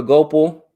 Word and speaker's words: Gopal: we need to do go pal it's pronounced gopal okay hopefully i got